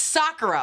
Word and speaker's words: sakura: where my brain went and so sakura it's sakura okay before you come for me tell me